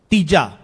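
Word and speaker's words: ਤੀਜਾ: Then you say again, Tija. So, this is basically Maharaj re-emphasizing how you pronounce the number 3. Tija. And it's also another, you can say another point or another evidence why we always say Mahalla. Because if this was to be pronounced in the feminine form of Mela, then this will be Tiji, not Tija. Okay?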